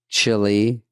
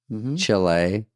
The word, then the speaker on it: Chile: You're saying it wrong. Chile Chile.